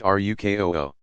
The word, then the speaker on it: ruku: From 2 to 4 cycles of standing, bowing to place hands on knees, ruku, pronounced rukoo.